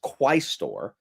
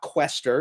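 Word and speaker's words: quaestor: this right here um so the office is quistor. It's not quester.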